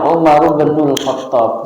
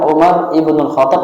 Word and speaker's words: Umar bin Khattab: Jadi bacanya Umar bin Khattab. Jadi kalau dibaca itu boleh Umar ibnul Khattab atau Umar bin Khattab. Karena alifnya dibuang.